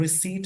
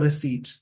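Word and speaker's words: receipt: उसी प्रकार से रिसीप्ट बोलते हैं। जैसे एक बार बहुत सारे बोलते हैं रिसीप्ट। उसमें पी साइलेंट होता है। इस वर्ड में पी साइलेंट हो जाएगा। इसको बोलते रिसीट।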